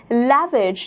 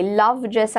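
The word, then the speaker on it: lavage: लैविज या लवाज इसे प्रोनाउंस किया जाता है, इसका अर्थ होता है वॉशिंग और बेदिंग ऑफ एन ऑर्गन.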